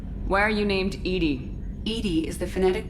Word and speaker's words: EDI: it out there why are you named edie edie is the phonetic pronunciation of edi that is an acronym for